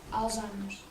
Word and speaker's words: Alzheimer's: Is it pronounced Alzheimer's or Alzheimer's? Alzheimer's.